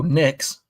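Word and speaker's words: Nix: It rhymes with picks, I think. Oh, Knicks.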